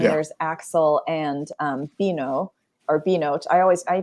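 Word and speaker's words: Binnot: oh man because it's because it's B b-i-n-n-o-t and it's you you are supposed to pronounce the T like B note except that I took French for like eight years and so I always want to say bino I'm not pronounce the T like yeah not a French name but there's no French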